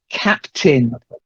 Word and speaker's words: captain: So the next one, captain. You've got to get the T in. Captain.